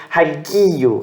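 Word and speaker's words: ἁγίου: Esse som como um som de g, hagi, gi. Essa vai ser a sílaba tônica por conta do acento ali em cima. Hagi. E essas duas vogais aqui, o ômicron e o y, você pronuncia como um som só.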